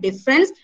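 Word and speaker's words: différance: By making the letter A silent and by making the new word difference be pronounced as the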